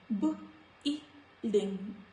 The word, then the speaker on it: building: Building, building. No sound of letter U.